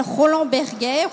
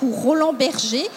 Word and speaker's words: Roland Berger: d'un cabinet qui s'appelle roland berguet roland berger c'est un cabinet franco-allemande prononce comme on veut et qui montre